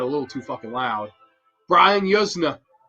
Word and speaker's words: Yuzna: Brian Yuzna. I would say Yuzna. I think it's pronounced Yusna. Turn of Living Dead.